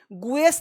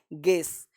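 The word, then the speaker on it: guess: तो गेस में यू क्या है, साइलेंट है, गुएस नहीं बोलते, गुएस गुएस नहीं बोलना है, गेस।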